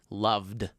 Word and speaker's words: loved: What's the final sound of the word love? V, which is compared to f, is a voice sound. So all we have to do is add d at the end.